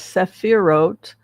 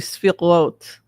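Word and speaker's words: sefirot: And these energies and frequencies are known, some people pronounce it as sephirot, but I've heard it pronounced usually sfirot or spheres.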